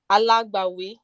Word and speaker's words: Alagbawi: How do you say advocate? Alagbawi. Alabawi. Say it again. Yes, that's it.